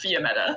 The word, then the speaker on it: Fiametta: Did you say Fiometa or Fionetta? How do you spell that? Meta. I actually have a character named Fiametta, which is why I know that the definition of the name, but it's Fiametta.